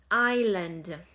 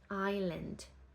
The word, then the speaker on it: island: Euh une île Island, le S ne se prononce pas Island.